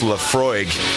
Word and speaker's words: Laphroaig: isla which this one in particular is it's pronounced laphroaig which you know it's kind of an interesting